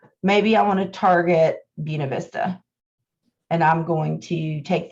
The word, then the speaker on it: Buena Vista: to buena vista and no i am not saying it wrong that is how you say it when you live in winston-salem it is buena vista it is not buena vista make sure that y'all